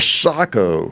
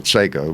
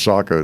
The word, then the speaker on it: Sako: i kept the the the sako you know that's how you pronounce it but i was everybody calls it seiko but yeah i think it's sako that the bavarian it